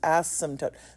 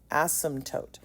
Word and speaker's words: asymptote: That's how it's pronounced, asymptote. The p is silent, asymptote.